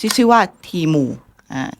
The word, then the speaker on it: Temu: เดี๋ยว ก่อน พี่ แซน มัน อ่าน ว่า ทีมู หรือ เตมู ทีมู ทีมู อ๋อ โอเค ไป ศึกษา มา